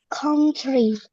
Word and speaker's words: country: Country. Oke, coba diulang. Country. Oke, country. Country ya. Jadi seperti A ya, count.